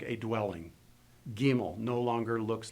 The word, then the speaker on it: gimel: and also notice that when you pronounce these names the accidents always going to be on the first syllable Olive gimel okay so let me